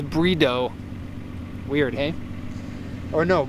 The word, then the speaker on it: Bride: In case you didn't know, the Japanese pronunciation is brido. Weird, hey? Or no, bride.